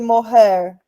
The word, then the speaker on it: mohair: se escreve aqui, mohair? É Mohair, de hair mesmo, mohair.